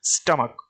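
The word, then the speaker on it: stomach: ठीक है, स्टमक, तो स्टमक के लास्ट में भी क्या है,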